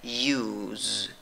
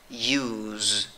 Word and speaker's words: news: pronuncias con tres sonidos y mira aunque la escritura va con una s la pronunciación va con z la 'final no va y cómo pronuncias esta palabra news news ok con z al final min disculpa por la